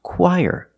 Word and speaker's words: choir: qu and the r there's a sound in the middle that is y the sound y like yellow YY let's link The Sounds y quier together chir put the stress on the first syllable choir this word is